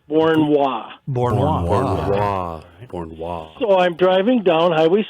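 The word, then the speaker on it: Beauharnois: i s all right how do you pronounce it i have no idea it's fort bourne wall so i'm driving down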